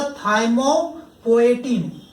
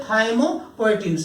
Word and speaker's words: थाइमोपोएटिन: थाइमोपोएटिन। पोएटिन, पी का उच्चारण हो रहा है यहाँ पे, पोएटिन।